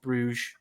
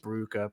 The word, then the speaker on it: Brugge: He's fallen out with Club Bruges." I know it's pronounced Brugge, but I don't want to say that because it sounds silly.